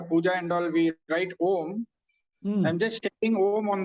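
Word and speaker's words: ॐ: a sound syllable and the OM has to be pronounced as pluta three Matas right so so the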